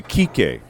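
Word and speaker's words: Kiké: to say you know key K you know we say key K right but his name is actually key K because he's got right accent on the the final leave but nobody says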